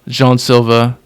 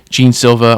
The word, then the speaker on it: Jean Silva: watch Diego Lopez, Silva, Jean Silva, Jean Silva, or as Bruce Buffer said, Jon Silva. This this guy has a million ways to pronounce his name apparently.